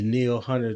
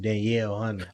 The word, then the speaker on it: Danielle Hunter: out real quick because I don't want the uh the Neil Hunter to hear you pronounce his name Danielle Hunter oh my bad damn